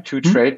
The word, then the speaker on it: 2TRDE: 2Trade? Maybe, yeah. 2Trade, but without an A. So it's spelled the number 2, and then TRD.